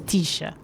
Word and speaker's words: Techa: I accept all, but the I best stay with pronunciation is Techa.